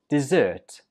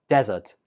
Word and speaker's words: dessert: This one is pronounced dessert. Dessert. Where did you hear the stress? Right, on the second syllable. Dessert. Dessert. If you put the stress on the first syllable, it sounds more like desert, which is not correct.